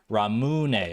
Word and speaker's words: ramen: correct my previous pronunciation you were right on enunciating the moo I was led I was misled by weebs in high school apparently ramun okay all right Justified I do kind of like Ramen though I feel like either pronunciation